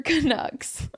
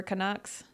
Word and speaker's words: Canucks: Canadians, not Canucks as in Ducks. I didn't even think about that. The Anaheim Ducks, the Vancouver Canucks.